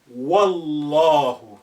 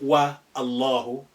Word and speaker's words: Wallahu: But if you put wow there, by God, you say Wallahu, not wa Allahu.